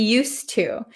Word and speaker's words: used to: or use but uh there is actually a d here okay used to used to it's just a difficult to say used used to it's very difficult so we just cancel out the D sound used to used to